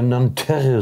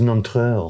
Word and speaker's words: Nanterre: Wir würden ja Nanterre sagen. Ja. Aber das heißt Nanterre.